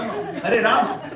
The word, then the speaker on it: Hare Rama: No, Hare Rama. Pronounce clearly.